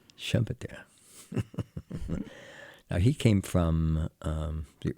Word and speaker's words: Schumpeter: we're speaking English here, so Schumpeter sounds right. A German or two may listen in. So how do you say? Schumpeter. Schumpeter.